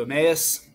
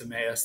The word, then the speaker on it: Emmaus: about the road to Emmaus or however you pronounce it I think it's Emmaus that's how I've always pronounced it at least I mean Jesus appears